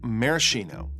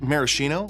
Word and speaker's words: maraschino: I said maraschino, like the maraschino cherries, but cocktail snobs will be quick to point out that it's maraschino, because that's how Luxardo pronounces it since it's Italian. But Garnier is French, so it should be Marascan, I believe.